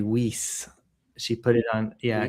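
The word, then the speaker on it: Wiese: I found out that Marie W I E S E is Marie Weise.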